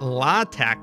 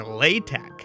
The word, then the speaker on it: LaTeX: how do you pronounce it now now it's pronounced latch or latek yes this is no longer referring to the